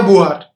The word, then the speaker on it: Beauvoir: सेमेंदा बुआर, आप स्पेलिंग देखेंगे नाम की तो कुछ और उच्चारण हो सकता है, लेकिन फ्रेंच भाषा में इसको बुआर कहकर ही कहा गया है।